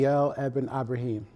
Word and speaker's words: Kyle Ibrahim: his name, so you give me the correct pronunciation. Kyle Ibrahim.